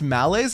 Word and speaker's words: malaise: It's pronounced malaise, not oh, malice is M-I-L-I-C-E.